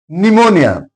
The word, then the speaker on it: pneumonia: Pneumonia P is here P is followed by N. It's a disease. So P is silent here etc.